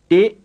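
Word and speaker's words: တစ်: It's just like the plain K and the plain P. It's not an English T or an English D,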